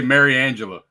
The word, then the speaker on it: Mariangela: I just say Mary Angela.